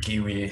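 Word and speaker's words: gwei: or Giwi, as I've learned it should be pronounced.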